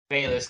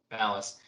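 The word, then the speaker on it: Baliss: Bayless, because I'm only going to do the Brolus thing once. Actually, I think it's pronounced Dallas. It is. Balas.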